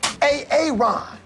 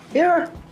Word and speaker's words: Aaron: Son of a A Aon, where are you? Where is a Aon right now? Aaron.